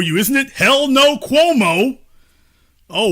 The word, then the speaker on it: Cuomo: isn't it hell no Cuomo oh what an unfortunate last name that it rhymes with hell no oh this is awkward